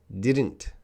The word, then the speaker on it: didn't: Didn't. When I say it now, didn't, the T is a little bit strong, but I'm sure in a sentence, the T is probably reduced.